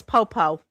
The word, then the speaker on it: Poepoe: Just not like that, but you know, his name is Popo, but we don't spell it. That's Poepoe is how you spell his name, apparently.